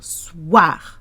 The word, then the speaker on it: soir: O-I is a wa. Wa. You need that wa sound in the middle. Soir.